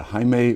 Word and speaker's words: Jaime: J okay like absolutely so Hae and then pronounce your last name for me Hae Hae yeah yeah yeah I love that I